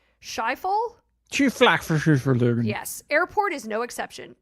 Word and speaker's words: Schiphol: Amsterdam's, and I won't be able to pronounce this correctly, Schiphol?